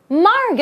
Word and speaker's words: Margot: Margot! Oh, why is there a T? I don't know, it's just pronounced in a different way. The T is silent. That's right.